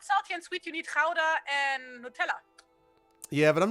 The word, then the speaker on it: Gouda: It's spelled Gouda. It's Gouda because it's good. It's good. It's good. Yeah, well, that's like how you pronounce the G in Dutch in most cases.